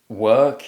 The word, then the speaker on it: work: achieve your pronunciation goals work is a very common word but i often hear it mispronounced specifically some students have a habit of producing the or sound instead of the er sound so sometimes the word